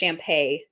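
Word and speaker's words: Shampe: Everybody may know the name Champ, which many people kind of think of as a Bigfoot legend. It is a Choctaw legend. It's also actually pronounced Champay in the Choctaw language.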